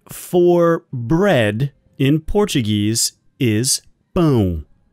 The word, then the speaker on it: pão: And the word for bread in Portuguese is pão. Pão is a very nasally sound.